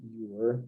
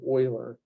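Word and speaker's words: Euler: same kind of idea this EU has like an o sound so this is Oiler just like roers is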